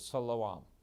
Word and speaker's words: Siloam: down this is the pool of siloam or as they would pronounce it there is salaam and you know of